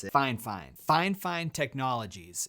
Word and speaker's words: FIFINE: budget mic from they told me how to pronounce it fine fine fine fine technologies it's the k0 3:7 wireless